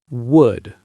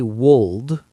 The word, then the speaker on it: would: Would. And again, the pronunciation. The L is silent. We do not say wold, we say would.